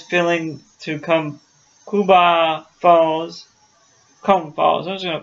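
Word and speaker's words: Coomb Falls: Anderson to be careful scary definitely and it has filling to come kuba falls comb falls those are called comb Falls but it's spelled ce o-- o m b8 follows one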